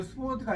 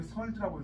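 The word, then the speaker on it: sword: 이거 스워드가 아니라 설드라고 읽어요. 칼. 우리가 스워드라고 뭐 발음하는 건 틀린 말이에요. 영어적인 발음은 설드예요. 스워드가 아니고.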